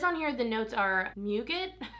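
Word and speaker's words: muguet: It says on here the notes are nougat, I say it like nougat but with an M, violet leaf, golden gardenia, jasmine, Australian album sandalwood, and Virginia cedarwood.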